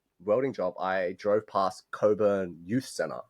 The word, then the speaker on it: Cockburn: It's spelled C O C K B U R N, right? which you would assume is pronounced cockburn, but but it's not. It's pronounced it's pronounced coburn, right?